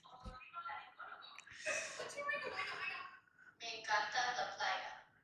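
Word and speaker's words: otorrinolaringólogo: Torrelingalingaloo. No, it's otorrinolaringologo. Torrelingalingaloo. It's otorrinolaringologo.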